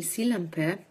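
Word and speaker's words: Sillanpää: bitte ist Franz Emil sillampe stellt sich heraus es ist der einzige finnische Literaturnobelpreisträger so spricht man seinen Namen wirklich aus montag den 23 mai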